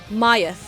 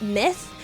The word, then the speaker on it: MY-TH: They were very specific about the pronunciation of MY-TH, and it's not myth, because I would read that as Kamen Rider myth. But no, it's Kamen Rider MY-TH. With the little dash being so important.